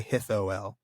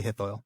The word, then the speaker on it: Hithoel: it, but he says you can basically just pronounce it OI. So oi, Hithoil. Oh, okay. Oi. Just don't say it in 3 syllables. Don't say Hithoel. Say Hithoil.